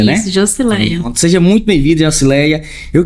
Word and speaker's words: Joscileia: É assim mesmo que pronuncia, né? Isso, Josileia.